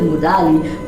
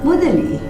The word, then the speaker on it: Mudali: And I wanted to call him Mr. Mudali, but I believe that it's actually pronounced Mudali.